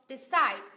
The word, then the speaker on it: decide: thì cái từ decide decide là động từ có hai âm tiết đúng không decide các bạn có nghe được không decide nhấn âm tiết thứ thứ hai đúng không Ok chúng